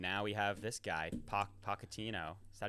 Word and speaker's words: Pochettino: Went from goodbye Greg to drop Klopp to some guy named Pellegrino, and now we have this guy, Pochettino. Is that how you say it? Pochettino.